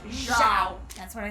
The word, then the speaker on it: Zhao: Again, was whispering in Zhao's ear. Not Zhao. Zhao. That's what I said. You said Zhao. You said Zhao. It's Zhao.